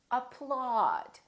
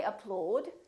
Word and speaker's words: applaud: say ah August audience applauded so don't say upload and don't say a ploughed say applaud another common spelling pattern